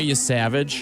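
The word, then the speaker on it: Yesavage: He's His name is is spelled Y E S A V A G E. Ray, you savage.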